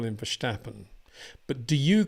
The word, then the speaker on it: Verstappen: question before by saying quite a lot of Dutch people do pronounce it verstappen and I try to find a happy medium and sometimes call him verstappen and sometimes call him verstappen but do you call